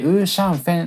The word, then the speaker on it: 五香粉: 豚角煮の五香粉と書いてウーシャンフェンと読みます 4 の B セ